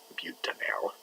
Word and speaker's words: butanal: It's not pronounced anal, it's pronounced butanal.